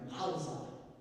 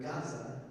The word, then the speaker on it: Gaza: That's because the word Gaza is not written with a gimel. It's not written with a letter that sounds like a G to us. It's written with a guttural that in the Germanic pronunciation they say it has no sound. Well, that's not true. It has a sound.